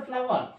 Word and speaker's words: flour: আর একটা ফ্লাওয়ার হয়, দেখো এটা কিন্তু ফ্লাওয়ার, উচ্চারণটা ফ্লাওয়ার, FLOUR ফ্লাওয়ার। আর একটা ফ্লাওয়ার হয় FLOWER, ওই ফ্লাওয়ার হচ্ছে ফুল, আর এই ফ্লাওয়ার হচ্ছে ময়দা।